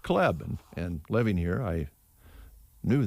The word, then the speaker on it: Klebe: celebrating the birthday teresa kleb now that's one that uh people who move from a way never get right because it's spelled klebe but it's pronounced cleb and living here i